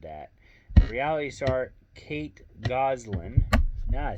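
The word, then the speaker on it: Gosselin: Reality star Kate Goswell. Oh my goodness. I'm sorry. I butchered that. Reality star Kate Goslin.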